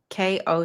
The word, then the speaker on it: Koch: Um his last name K O C H. I have there's the Koch brothers, right, who pronounce it KO.